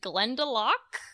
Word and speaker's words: Glendalough: I really really liked we pronounced it Glen Tulloch yes there's two ways okay there's probably the exact transliteration and the other you know more British or whatever yeah but I liked